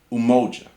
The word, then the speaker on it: Umoja: So, the first day of Kwanzaa, the principle is called Umoja, pronounced U-Mo-Ja.